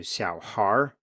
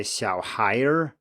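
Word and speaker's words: 小孩儿: When we add the R here, it turns into xiao har. We don't say xiao haier, but instead the final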